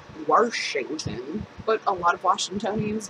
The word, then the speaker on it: Washington: I live in Washington I don't add an r into Washington but a lot of